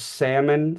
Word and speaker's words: Salmon: very uh confrontational uh was salmon spelled like the fish uh salmon Chase he